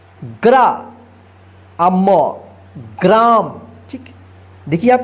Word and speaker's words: ग्रा: देखिए गरा और ग्रा, ध्यान रखिएगा आप, ग्रा आता है तो र पदेन, ठीक है, गरा, इसको गरा पढ़ेंगे।